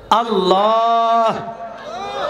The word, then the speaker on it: আল্লাহ: আল্লাহ নামের মস্ক করাইছেন আল্লাহ লাস্টে হাটা উচ্চারণ করবেন অনেকেই হা উচ্চারণ করে না আপনার নাম যদি থাকে